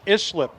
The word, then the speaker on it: Islip: How is it pronounced? Islip. It's Islip, according to Jim McClendon.